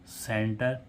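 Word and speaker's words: centre: तो जब सा क जब सी के साथ में ई हो तो सीई एन टी य आर वाय सेंचुरी सीई एन टीई आर सेंटर सीई एम ई एनटी सीमेंट ठीक है तो ई के साथ सी के साथ में ई हो तो उसे सा पढ़ते हैं और जी के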